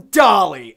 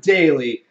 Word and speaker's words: Daly: video the villain Dahle how're you doin I'll be doing better if my name is pronounced right it's Daly and I am back